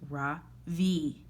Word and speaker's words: Ravi: It's pronounced Ravi with a soft Ra and a strong V. In Sakritar, it means the sun. In America, people just call me Ravi with the stress on the first syllabus.